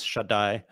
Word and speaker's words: Shaddai: that sort of the biblical God is a shed. Is that how you say it? Yeah. So one of the names the Bible has many names for God. One of them is Shaddai, which actually etymologically is probably connected to breasts.